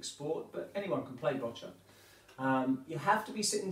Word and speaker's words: Boccia: game it's it's pronounced botcher sounds like gotcha but it's spelled b-o-c-i-a so if you're looking that up on the computer it's it's about b-o-w-c-i-a bocha sounds like gotcha botulism